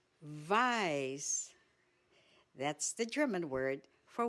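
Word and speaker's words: weiß: You pronounce it as V. Black is white. Vice. Vice.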